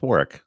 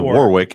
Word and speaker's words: Warwick: That's not Warwick. That's Warick. Is that his name? Yeah. Warwick Davis. Oh, it is Warwick, isn't it? That's what you said. Yeah, you said Warwick and then you spelled it Warick.